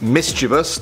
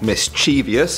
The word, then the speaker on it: mischievous: It's mischievous, not mischievous.